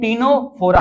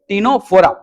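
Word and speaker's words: Ctenophora: फिर बात करते हैं टीनोफोरा। बेटा सी साइलेंट है इसमें। तो याद रखना क्या हो गया ये? टीनोफोरा।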